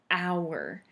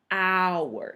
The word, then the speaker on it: hour: So this one starts with a consonant, this noun. It starts with a H, an hour. But we use an instead of a because the H is quiet and it makes a hour. It makes a vowel sound.